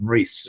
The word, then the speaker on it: Rhys: By the way, last time I heard someone with the name spelling you have, I called them Rhys because they were in Wales. That is 100% the correct way to pronounce it.